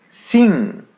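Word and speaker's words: sim: There's letter I, we pronounce it as E in Portuguese. So it be C C and the letter M or Amy comes after. So we pronounce it as a light N. So it would be sing.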